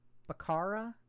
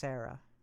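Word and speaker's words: Becerra: And Xavier uh Barara, I believe, is how you say it.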